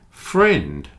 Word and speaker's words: friend: just one syllable aunt friend also has one syllable friend ignore the I in this one pretend the I is